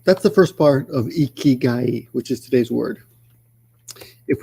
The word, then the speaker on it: 生き甲斐: And put them together, notice the pronunciation changes to ikigai with a G. Ikigai, like so.